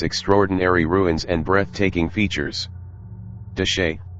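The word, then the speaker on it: Chelly: ruins and breathtaking features deshay pronounced de shayi or more commonly de shay consists entirely of land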